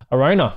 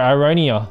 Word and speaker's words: Aronia: Arona. Arona. You're so dumb. Oh, sorry. Aronia. Aronia. Shut up. No one needs to know. No one needs to know that I pronounced it wrong.